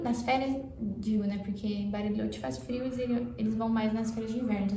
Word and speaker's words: Bariloche: Muita gente fala que bariloche é mais lá chamam barilhote.